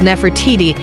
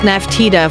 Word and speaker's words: Nefertiti: Shemo Mehu, Nut Emu, while modern Egyptological pronunciation renders her name as Nefertiti. Her name was the sentence Nfr-TJJ.TJ, the beautiful one has come, and probably contemporarily pronounced Naftita from older Nafrat Ida or perhaps Nafert Yidi.